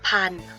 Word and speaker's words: พันธุ์: ทอ ทหาร รอ เรือ และ พันธุ์ เรา จะ ไม่ ออก เสียบ ธร อา สะ อุ ค่ะ และ ทัณฑฆาต สามารถ ฆ่า